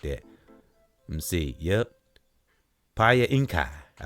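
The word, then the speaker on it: Piankhi: I P I A N K H I Pinkai. You got to say it like that. Let's see. Yep. Pa Inkai.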